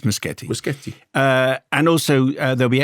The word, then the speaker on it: Muschietti: producer of uh and it's muskete not muskete it's spelled Yeti but and that which is what I was saying but apparently I was wrong it's muskete uh and also there'll